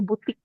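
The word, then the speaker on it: boutique: baca dalam bahasa Prancis jadi ou itu bacanya U nanti u itu bacanya bukan u u itu bacanya nanti alfabetnya itu bacanya u nah nah eh Ti kue ini kue ini bacanya k ke maka ini BTI bacya butik kemudian ini di bawah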